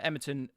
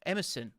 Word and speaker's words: Emerson: um and he was able to pin uh emerton um am i getting his name wrong emerson that's right sorry emerson um he was able